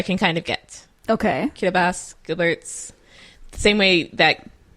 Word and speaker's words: Kiribati: I'm assuming the because Kira boss comes from the native peoples pronunciation of Gilberts which I can kind of get okay Kida bass good lurtz same way